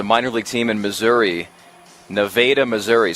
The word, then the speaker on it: Nevada: there was a minor league team in Missouri Nevada Missouri spelled the same way as Nevada but pronounced Nevada and their name was the Nevada lunatics and